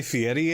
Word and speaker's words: Fieri: Yeah, and it's got Guy Fieri in it.